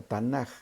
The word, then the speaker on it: Tanakh: Los cristianos llamamos así al Antiguo Testamento porque Tanakh o Tanaj con J, Tanakh como se pronuncia, realmente es un acróstico que significa tres cosas.